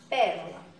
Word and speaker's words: pérola: Pérola. Então, pérola é a antepenúltima sílaba pronunciada com mais intensidade, ok?